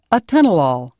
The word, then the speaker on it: atenolol: names in this classification end with the letters lol pronounced law such as atenolol tenorman six calcium channel